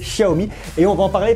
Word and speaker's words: Xiaomi: de la marque chérie que j'ai toujours tendance à prononcer xiaomi alors c'est chahoumi et on va en